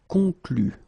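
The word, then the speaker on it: concluent: Concluez, and then here, conclu. Okay, keep in mind that even if you put this final ENT, so the ending, you don't pronounce it. So phonetically you get conclu.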